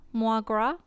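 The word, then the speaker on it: mo ghrá: One dialect would pronounce it Moi gras?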